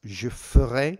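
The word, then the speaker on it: je ferai: anything to do with an a now it's jeff ray pronounced like that je foreign the verb to go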